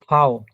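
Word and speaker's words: Vau: ফাও, এটা আমরা ইংরেজিতে বলছি হচ্ছে ভি, কিন্তু এটা হচ্ছে জার্মানে বলে হচ্ছে ফাও, বা ডয়েসে বলে ফাও।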